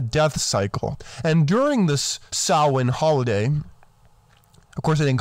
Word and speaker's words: Samhain: Now, if you look up the spelling, it's S-A-M-H-A-I-N, but it's pronounced Samhain. Anyone who says Samhain doesn't know what they're talking about, and they didn't look it up.